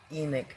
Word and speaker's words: emic: If you're well, emic I believe is the correct pronunciation.